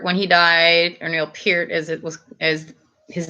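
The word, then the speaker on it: Peart: one of the people posting up about Neil pert when he died or Neil Pierce as it was as his name was actually pronounced you like Metallica Jen wow I don't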